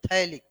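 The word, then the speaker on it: phthalic: तो क्या है, थैलिक एसिड, लेकिन लिखने पैथैलिक।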